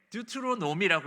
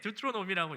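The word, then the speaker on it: Deuteronomy: 네, 듀트로노미라고 읽습니다. 좀 어려운데 듀트로노미라고 읽는데 저기 앞에 이 듀트로라는 단어는 두 번째, 저 앞에 보이는 그 두 번째라는 뜻이에요.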